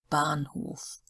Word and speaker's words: Bahnhof: Haus, Hamster, Bahnhof. So there is Haus and Hamster. It is actually like the English word. Bahnhof, we've got the first H because that makes it a long A sound.